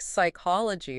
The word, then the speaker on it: psychology: It's making me think of all these other words like psychology with that silent P.